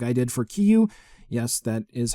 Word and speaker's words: Kiryu: Soul of Chogokin figure like I did for Kiyu. Yes, that is how it's pronounced. I do understand. We're going to go with Kiryu anyway.